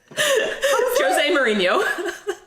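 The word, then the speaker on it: José Mourinho: say it jose mourinho that's not jose and that's how he's portuguese so he says jose jose what mourinho mourinho apologies jose was sacked towards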